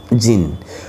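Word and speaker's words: Djinn: यस, ये जो word है यहाँ पर डी से स्पेलिंग स्टार्ट हुई है बट we pronounce it जीन.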